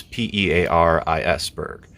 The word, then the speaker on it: Pearisburg: Pearisburg, and it's not spelled like Paris in France. It's Pearisburg, like the fruit.